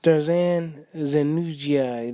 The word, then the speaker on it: Dardan Zenunaj: It's hard to pronounce these guys' name, man. I mean, you got to hear it a couple of times. Dardan Zenunji, yeah, that's what it is. Dardan Zenunji, that's what it's supposed to be. That's what it's pronounced.